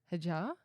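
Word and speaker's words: Hadjar: Isaac Hajar. Hajar. Hajar. Hajar. Yeah. Silent D.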